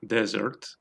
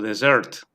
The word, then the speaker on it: dessert: Podemos acentuar en la primera sílaba o en la última, desert o dessert.